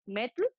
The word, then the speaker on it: metl: La primera de ellas es metl, es METL, que quiere decir agave, e izcalli quiere decir cocido, es decir, una bebida de agave cocido.